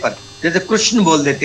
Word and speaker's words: कृष्ण: का के नीचे री, क्री, जैसे गा के नीचे री, ग्री, का के नीचे री, क्री, कृष्ण, कृष्ण।